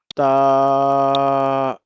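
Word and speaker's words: ط: ta ba You know, ta is masala letter. You have to pronounce it thick.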